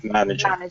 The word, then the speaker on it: manager: just wanted to say the pronunciation is manager the emphasis is on the first syllable okay okay manager yeah that's better and